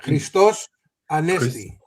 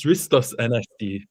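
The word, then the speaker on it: Χριστός Ανέστη: It's I reckon it's I reckon it's Christos Anesti. The X is silent, I reckon. Christos Anesti.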